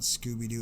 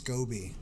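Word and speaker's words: SCOBY: further you fall now it's not scooby-doo its Cobi it's a silly way to spell it it's an acronym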